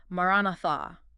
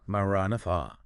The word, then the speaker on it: Maranatha: It has 4 syllables. Maranatha. Just let the Nice. sound carry Maranatha.